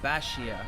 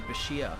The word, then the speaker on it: Bashir: Bashir. People say Bashir usually. Skip over the A.